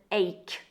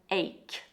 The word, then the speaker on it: ache: But this CH is in fact a strong K sound, just like in the word stomach. So it's an ache, an ache.